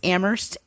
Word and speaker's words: Amherst: say it now it's amherst massachusetts the h is silent i stand corrected thank